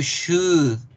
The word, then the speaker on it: should: You should wear clothes. Deberías usar más ropa. Good. We do not pronounce the L in the word should.